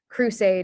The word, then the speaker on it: crusade: is um pronounced aid crusade is pronounced aid this one would